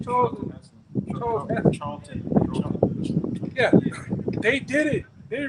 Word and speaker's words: Charlton: Charlton.